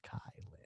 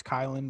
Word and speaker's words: Kylan: It's capital KIL, like for kill, Kylan. Yeah, I only know it's Kylan because I heard them announce her.